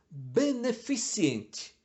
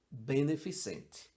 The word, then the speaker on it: beneficente: vai falar sempre meteorologia beneficiente Essa é uma das campeões de pronúncia errada não existe o i depois do C Apesar de que convenhamos